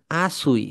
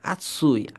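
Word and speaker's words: あつい: তাহলে আসুই, আসু দেখেন, আসুই এরকম হবে না, আতসুই।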